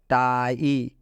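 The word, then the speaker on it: tie: यहाँ पर आई के बाद से ई आया, आप देख सकते हैं आई के बाद से ई आया है, इसलिए आई का उच्चारण आई हुआ है, इसलिए जो आई है इसका उच्चारण आई से हुआ है।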